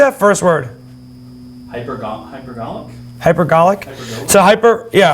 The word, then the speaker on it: hypergolic: how do you say that first word hypergolic hypergolic so hyper yeah hypergolic propellant that that's essentially a propellant where two